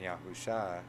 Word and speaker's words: Yahusha: Trust me, I still am going to pronounce Yahuwah and Yahusha. In all my studies, this is the pronunciations I have found.